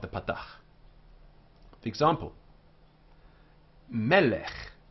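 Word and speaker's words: מֶלֶךְ: The example, melech, melech, remembering the accents on the first syllable because it's two of these, melech.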